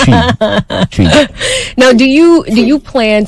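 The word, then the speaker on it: Twi: What did you say? It's spelled T-W-A. No. T-W-A is T-W-I. Tweet. It's T-W-I. Oh. Okay, so they messed it up. So it's tree. Tree. You can't tweet.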